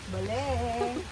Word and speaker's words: Balé: Wow, or doon Pronunciation niya, sa... Bale. Bale.